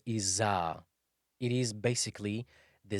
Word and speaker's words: ز: Za is pronounced just between the two incisors. When you put the tip of the tongue between the two incisors and slightly close to the lower incisor.